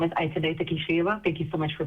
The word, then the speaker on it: Ayten Atakishiyeva: Next up in public testimony is Ayten Atakishiyeva. Thank you for being here. Please proceed. Thank you so much. Thank you so much. Hello, everybody. My name is Ayten Atakishiyeva. Thank you so much for pronouncing my name correctly.